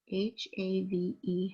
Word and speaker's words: have: There's a silent E at the end. It's a rule breaker. So I have H-A-V-E, have.